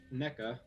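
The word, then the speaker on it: Nneka: So if Jesse were to like vote with NECA, I guess I'm pronouncing her name wrong. It's not NECA, it's NECA.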